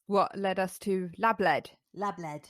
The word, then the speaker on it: lABLEd: lABLEd is as it's phonetically spelled.